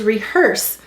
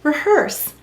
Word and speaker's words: rehearse: underline the er and why do we have a silent ian rehearse it is to keep it from